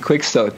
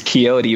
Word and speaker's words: Quixote: it's still a FC quick stock though I mean I've corrected you and told you it's Quixote but every time he